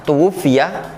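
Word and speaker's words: تُوُفِّيَ: Tuwfiya itu bacanya tuwfiya. Fa-nya ditasydid ya, fa-nya. Ta-nya di dhamma, wawunya di dhamma, tuwfiya.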